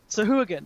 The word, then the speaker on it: Sahuagin: you can see a Swahagan. How do I pronounce that? Sahuagin. Yes, it's like hooligan, isn't it?